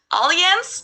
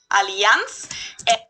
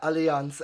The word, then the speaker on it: Allianz: about to learn something most americans call it alliance but the correct german pronunciation is allianz okay see yeah allianz i i really didn't